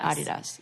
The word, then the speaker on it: Adidas: was like that's how you say it Adi Adi does yeah even in America where I'm in a